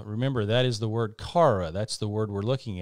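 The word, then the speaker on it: χαρά: uh it would be we would pronounce it kara or something similar to that and you can see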